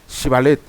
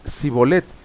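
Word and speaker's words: Shibolet: Si él respondía no, entonces le decían ahora pues de Shibalet. Y él decía sibolet porque no no lo podían pronunciarlo correctamente.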